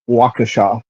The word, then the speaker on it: Waukesha: the two above, which I loved hearing during the Daryl Brooks trial, no one could pronounce the city it was being held in, and that one is Waukesha.